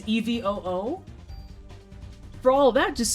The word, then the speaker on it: EVOO: She actually pronounces Evo letter by letter on her shows, like EVOO. She says EVOO.